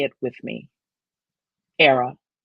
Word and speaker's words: Airea: that ghost I honor say it with me era rhymes with Sarah Sarah from the Latin meaning a